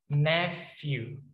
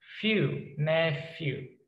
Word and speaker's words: nephew: Jadi kalau kita punya keponakan laki-laki, we call him as nephew. Nephew. Nephew. Pakai F, nephew.